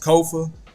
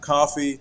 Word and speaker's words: Kofa: I'm your host, Kofa, Kofa, not coffee, not, not Kofi, or any variation thereof. Kofa rhymes with sofa.